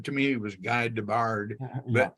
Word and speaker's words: Guy Debord: There was a tremendous, the guy, you pronounce his name, to me, it was Guy Debord, but Guy Debord.